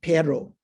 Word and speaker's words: perro: talk about even say, for instance, dog and perro. Did I pronounce that right?